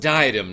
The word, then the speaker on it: diadem: It's pronounced diadem, not died.